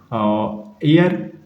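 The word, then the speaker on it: heir: एयर एयरएस, एयर इसके साथ एक जो है ना वो साइलेंट है।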